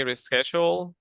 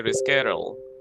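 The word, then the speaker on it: reschedule: you some people say R schal some people say rescal which is American American rescal and rescal ready so both options can be correct res so we have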